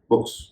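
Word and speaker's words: books: ओ ओ के यानी इसकी अंतिम ध्वनि थी क इस कारण से इसके बाद जब अंत में एस लगा इसका उच्चारण हो गया बुक्स आइए हम बाकी चार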